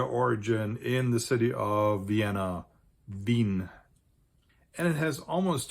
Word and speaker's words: Vienna: The biggest Austrian city by far is its capital, which in German is pronounced Wien. Vienna in English, so it does have an English equivalent, but in German it's pronounced Wien.